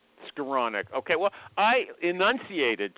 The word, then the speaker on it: Skowronek: His name is Scaronic. I think last time you were here you complimented me that I got the pronunciation right. Do I have that right? Close. It's scironic. Skironic.